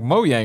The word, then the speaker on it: Mojang: E3 when they they came out and like moang we're like oh that's how you say it